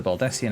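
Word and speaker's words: Baldesion: go back to the baldessian annex you believe i used to pronounce this baldusian dad okay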